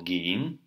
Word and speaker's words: gehen: Вот глагол gehen. Ха не читается в середине.